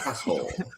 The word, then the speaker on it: asshole: He does say asshole like casserole. Like asshole. Asshole. Yeah, he almost adds another syllable in there.